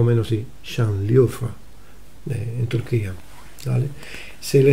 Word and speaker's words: Şanlıurfa: Apareció ahí en esa zona, se conoce como provincia de Şanlıurfa, se pronuncia más o menos así, Şanlıurfa, en Turquía, ¿vale?